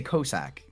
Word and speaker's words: Cossack: One thing that we need to establish, Mahonga, is we need to get you saying Cossack correctly. Is it? I say Cossack. Yes. Yes. And it sounds like ballsack.